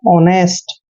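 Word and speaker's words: honest: एन ई एस टी यहां पर ध्यान रखिए ओ से पहले एच साइलेंट रहेगा ओ का उच्चारण हमने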